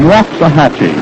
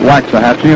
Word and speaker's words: Waxahachie: Richards comes from Waxahachie. He tells me that's the way to pronounce it down in Texas. We've been calling it Waxahachie, and we apologize now to every citizen of Waxahachie. 2 strikes on Johnson.